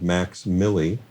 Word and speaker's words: MVXMILLI: He goes by the stage name of Max Millie, Okay. and that's Check spelled, it out. And it's spelled MVXMILLI, Okay.